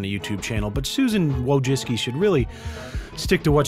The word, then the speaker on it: Wojcicki: But Susan Wojcicki should really stick to what she does best, which is fucking ruining YouTube, I guess.